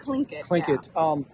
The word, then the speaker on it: Tlingit: So it's Tlingit. Tlingit.